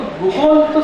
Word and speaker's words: googol: तर तो गुगलचं स्पेलिंग होतं GOOGOL, गुगोल.